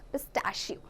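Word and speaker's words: pistachio: Almond हम इसे pronounce नहीं करती, almond. And पिस्ताचियो एज पिस्ताशियो.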